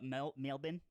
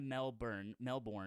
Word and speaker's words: Melbourne: So wait, you're from Melbourne? no, from Sydney. Oh, okay, Sydney. okay. Sydney. Yeah. Sydney. I've been to Melbourne, What do you and think of it it?